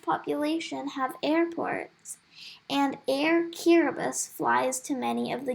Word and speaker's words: Kiribati: You might want to travel by Kiribati. First of all, it is pronounced Kiribati. Yes, it is. The letters T-I make the S sound here. Kiribati is spread out over